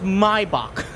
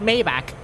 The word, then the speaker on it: Maybach: I need to remember the way that you pronounce it is mybach not Maybach mybach wasn't mybach a